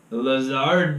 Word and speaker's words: Lazard: Lazard.